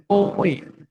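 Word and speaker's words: ㅚ: Nah, dibacanya adalah OE. Dibacanya adalah OE. Jadi diawalin huruf O, OE gitu ya. Kak, Jadi kalau minta. kaget. Kalau garis tidurnya itu O, terus ada huruf I, dibacanya OE ya.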